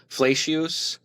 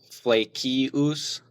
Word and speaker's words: Flacius: you're going to hear flesh, which is like the uh Latin ecclesiastical way to pronounce it. Uh, the Germanized version is probably fleeus.